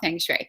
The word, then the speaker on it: Feng Shui: But I'm just going to do what I normally do and call it Feng Shui.